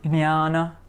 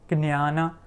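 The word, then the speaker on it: ज्ञान: So we have, for example, the word jnana, jnana, jnana, which means knowledge, right? Jnana.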